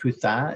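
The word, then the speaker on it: Coot-tha: little eateries here mount kuta kutar is our pronounced kutha is our big outlook here so catch a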